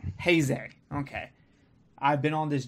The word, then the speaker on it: Heisei: Don, how do you properly pronounce this? Heisei. Heisei.